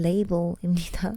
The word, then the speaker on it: label: 영어 발음은 레이블입니다. 완전 다르죠. 그쵸?